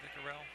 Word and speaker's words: Vicarelli: There's a good shot of Vicarelli. Vicarel, I think it's Vicarel. According to the pronunciation chart written in front of us, Vicarel.